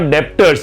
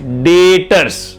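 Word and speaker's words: debtors: मैंने सामान बेचा और आपसे पैसे मिलने बाकी है, उसको B silent, it इज नॉट डेप्टर्स, इट इज डेटर्स।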